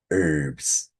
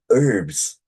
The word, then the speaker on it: herb: Um, in Britain, many people say herb, they pronounce H.